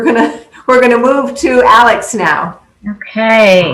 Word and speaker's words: Alyx: everyone um as chris mentioned my name is alex as you can tell from my little um square on our zoom it's spelled a l y x um so i